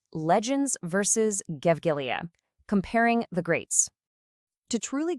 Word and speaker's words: Gevgelija: This AI music revolution was led straight out of the small town of Gevgelija, that's pronounced Gevgelija, in the Republic of Macedonia.